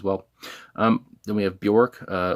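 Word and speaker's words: Björk: um then we have bjork uh or i think it is pronounced like bjork or something but um anyway her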